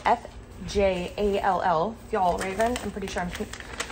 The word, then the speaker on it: Fjällräven: This brand is spelled F-J-A-L-L, Fjällräven.